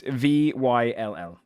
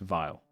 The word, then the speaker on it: Vyll: It's Vyll, but it's pronounced Vile.